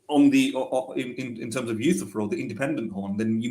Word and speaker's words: Euthyphro: Yeah, I don't know what he says, but he doesn't say Euthyphro, basically, right? How does he And I pronounce said, it? come on, how long have you been studying philosophy for? Yeah, Anyway, how does he pronounce it? I totally forgot. He pronounced it something very weirdly. I mean, if you listen to it, you'll just catch it in a very Okay. Eurifro or something like that.